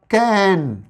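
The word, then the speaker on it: cane: जैसे यहां पे लिखा हुआ है क ऐ न कैन कैन ब ऐ ट बैट ब ई ट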